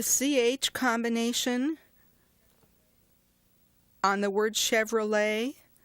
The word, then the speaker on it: Chevrolet: combination on the word Chevrolet the CH in spoken English is normally pronounced but in that word it's pronounced like an SH Chevrolet remember we talked earlier